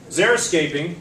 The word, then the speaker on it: xeriscaping: Xeriscaping, just pronounced like it has a Z, I don't know what the English language is all about, but it's pronounced xeriscaping.